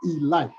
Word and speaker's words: Elite: giants now kids is spelled elite but it's pronounced e light you make those negro